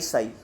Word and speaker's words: psi: साई की spelling PSI होती है, लेकिन उसे बोला जाता है SI साई, P साइलेंट होता है यहाँ पे।